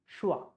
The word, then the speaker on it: schwa: So this sound, how you pronounce this sound, schwa sound, we don't say swa, we say So it's not a, it's not a, it's very light.